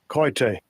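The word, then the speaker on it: κοίτη: And it's pronounced, it looks like kote, but I'm going to play it anyway. Strong's G 2845, koite.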